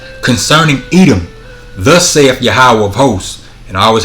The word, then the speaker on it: Yahweh: Jehovah, but we know there were no J's in ancient Paleo Hebrew and there were no V's. It's Yahweh. And it's pronounced, when it's pronounced that way, Yahweh, that's called the ancient Hebrew.